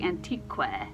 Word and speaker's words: antique: It's not saying qua. It doesn't say antique, right? That's kind of how you would read it in English. And QU, that says K, right?